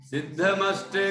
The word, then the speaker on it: सिद्धमष्ट: यदि सिद्धम फिर बोलेंगे तो फिर वो गलत हो जाएगा उच्चारण। कभी भी माँ इस तरह आता है जिसमें जो संधि वाला है, तो उसको बाद में ही बोलना चाहिए।